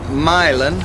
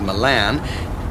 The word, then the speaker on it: Milan: And then from Milan, which parenthetically most people tend to mispronounce as Milan, you would stay on the 250 through Norfolk and...